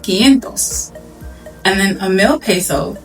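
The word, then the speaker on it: quinientos: So 500 pesos is pronounced gentos.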